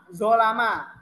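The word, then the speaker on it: ظَلَمَ: Dia di sini domah atau u, sedangkan di sini fathah atau dibacanya a, zolama.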